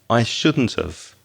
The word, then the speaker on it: shouldn't have: And the pronunciation, listen carefully, I shouldn't have. That have becomes very weak. And the t at the end of shouldn't joins with the vowel sound of, which is have.